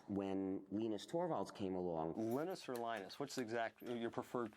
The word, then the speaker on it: Linus: When I speak English, it's Linus. And I really don't care how people pronounce my name.